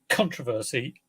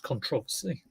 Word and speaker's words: controversy: Although my mum always used to point out, if anyone said controversy, it's actually pronounced controversy in the UK, anyway.